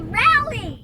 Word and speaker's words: Raleigh: Oh Valley ready wowie it's a rally that's how you say it we are now in